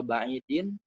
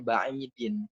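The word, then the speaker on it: بَعِيدٍ: Jadi gitu ya, ghaira ba'idin, ghaira dzarfu makanin, ba'idin mudhafun ilaihi. Gitu ya. Makanya dibacanya ba'idin. Gitu. Kenapa nggak ba'idi? Ya karena nggak ada alif lam.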